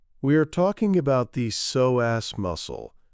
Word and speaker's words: psoas: We are talking about the soass muscle pronounced tai soass tice.